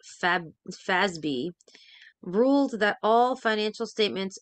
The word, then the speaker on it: FASB: 1987 when the Financial Accounting Standards Board fasb pronounced Fab fby ruled that all financial statements involving CPAs must